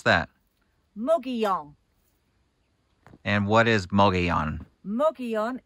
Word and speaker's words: Mogollon: How do you pronounce that? Mogollon.